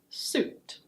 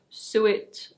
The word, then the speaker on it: suit: The next word is: suit. Suit. It's not "soo-it" or "sweet". It's: suit.